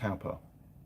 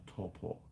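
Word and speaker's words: Taupō: friday i went to taupa or torpor as mrs mechanic calls it it's a talper i'm yorkshire i say it's spelt that's how you say it um and we got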